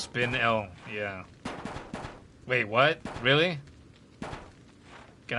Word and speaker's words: spinel: Is this PR is this is this also pronounced spinal? It doesn't have two ends. So it's not spinel or spinnel. Blah. The dying sound effect. It's pronounced spin L.